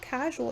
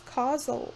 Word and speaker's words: causal: cash like a cash it's not casual it's causal causal casual castle customer it's it cannot be pronounced casual because it's not casual it's i know it's